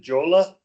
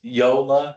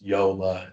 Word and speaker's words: Jola: Jola. It's Yola. So, it's a, the J is silence, uh, silent J, pronounced Yola. It's a German company.